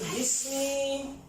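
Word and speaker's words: بسم: Tapi kena ditambah huruf B, dia jadi majrur. Majrurun. Dia harus bunyinya jadi I. Makanya jadi apa? Jadi bismi.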